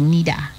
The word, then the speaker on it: neither: of the word naida the british pronunciation is naida the american pronunciation is nida so come again naida